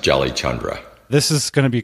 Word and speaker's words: Jalichandra: Well, my first name is pretty easy, but my last name is pronounced Jalichandra.